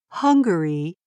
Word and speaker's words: Hungary: people who lived here if you listen carefully the two words are pronounced slightly differently Hungary and hungry of course Hungary has